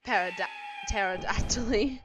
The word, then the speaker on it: pterodactyl: Then we have the Pterodactyly. I just said Para, the P silent, if you cannot read, but the P is silent.